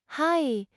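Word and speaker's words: はい: Pronounce it hi with a slightly longer vowel sound than the English word means no and is used to deny or disagree.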